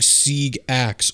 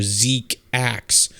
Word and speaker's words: GQuuuuuuX: The name pronounced in Japanese is GQuuuuuX, becoming Sieg Axe or Zeke Axe. This one has already come true, given it's armed with an axe. Which, like, he even misses. Like, it's a Xeon axe. Yeah. Like, it's a Zaku axe. Drops that ball right here, man. It can also be pronounced as G-quarks, relating to subatomic physics in other dialects.